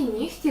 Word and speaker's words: нігті: звісно п'ять винятків кігті нігті легко вогко і дігтяро ці всі слова у вимові матимуть х але на письмі звісно вони матимуть г кі г ті ніг